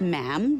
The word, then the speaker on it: ma'am: Um, and after that, it's just ma'am rhymes with jam.